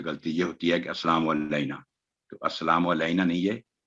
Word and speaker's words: السلام علینا: لئی السلام علینا، تو یہ ہے اس کا صحیح تلفظ.